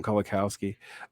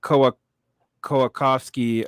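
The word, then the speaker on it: Kołakowski: because I've been practicing I usually call him kalikowski um but koakovsky uh stance that the left is negationist but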